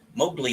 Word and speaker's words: Mowgli: do you pronounce it Mowgli Mowgli like from The Jungle Book okay this dog who